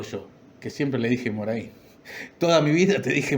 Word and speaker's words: Morhain: de historietas Jorge Claudio Moraín. Así que le pedí, como en todas las entrevistas, que se presentara con sus palabras, sus propias palabras, y me dice: soy Jorge Claudio Morén, o sea, pronúnciese Morén.